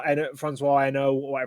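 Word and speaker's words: Hesnault: CAC, Philippe Streif, Francois Eno, however you pronounce that name. Pascal You Fabre. got it bang on. It is Eno, which is extremely impressive as a Brit to get that right.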